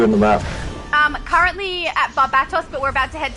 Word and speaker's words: Barbatos: David with the correct pronunciation, Barbatos.